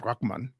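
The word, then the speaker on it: Rahman: name is Arabic though Raman which is actually pronounced rakman is Arabic so I'm like maybe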